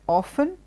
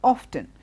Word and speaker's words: often: Now this word, you may have heard two different pronunciations for that word. You must have heard often and you must have heard often. And if you confused regarding which one is the right pronunciation, let me tell you the good news is both are perfectly fine. Often is British, American is often. That's the only difference.